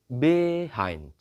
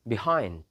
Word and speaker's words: behind: So the stressed syllable is the second, not the first. Not behind, behind. No, not behind. But the right one is behind, behind.